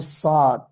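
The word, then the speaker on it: صاد: দদ নো, এটা কি? ঠিক কি পারি না হবে? এটা হবে সদ।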